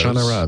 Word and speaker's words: Shannara: Shannara.